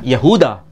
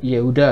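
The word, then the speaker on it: يهوذا: Yahuda. Bukan Yehuda ya. Yehuda bahasa Arab bahasa ee Ibraninya Yehuda. Kalau Yahuda bahasa Arabnya.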